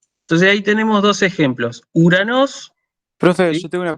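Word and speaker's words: Οὐρανός: Omicron, Ypsilon, no se pronuncia O. ¿Sí? Se pronuncia U.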